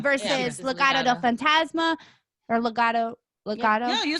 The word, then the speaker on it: Legado: Or Legado.